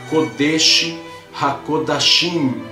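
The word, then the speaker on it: קודש הקודשים: Então você vai pronunciar Kodesh HaKodashim.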